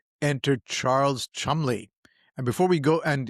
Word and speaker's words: Cholmondeley: And it's actually spelled Cholmondeley. So it's quite obviously pronounced Chumley.